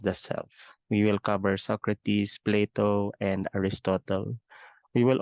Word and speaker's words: Socrates: or Socrates so I have included here the pronunciation of the name it's Socrates Socrates is one of the influential philosophers in Western